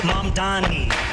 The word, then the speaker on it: Mamdani: The name is Mamdani, M-A-M-D-A-N-I.